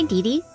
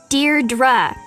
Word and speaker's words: Deirdre: sonnet or something hi didi Deirdre I know it's got that tricky second syllable but I figured it